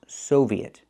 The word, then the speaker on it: Soviet: say post Soviet countries the word is pronounced Soviet we need the long o like in post post Soviet not Soviet I can't use the open a sound like hot and stop I need the long o like no and go Soviet post Soviet countries